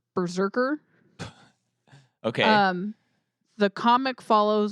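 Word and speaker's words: BRZRKR: in a Thing Called so this is how it's spelled all caps b-r-z-r-k-r Berserker okay um the comic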